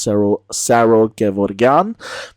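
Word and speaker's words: Saro Gevorgyan: So, all's well that ends well, but Saro Gevorgian is back in the national final. Yes, I know technically it's pronounced Saro Gevorgian, but that sounds weird in English, so I'm not going to do it.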